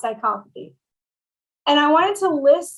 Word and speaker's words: psychopathy: There's something called the dark triad of human behavior, and it's narcissism, Machiavellianism, and then psychopathy, which is like being a psychopath, but it's pronounced psychopathy.